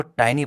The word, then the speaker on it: tiny: टाइनी का मतलब होता है छोटा, हम इसको टाइनी पढ़ेंगे, नॉट टिनी। बहुत सारे लोग क्या पढ़ते हैं, टिनी पढ़ते हैं, बट लेकिन प्रोनाउंसिएशन क्या है इसका, टाइनी, ओके।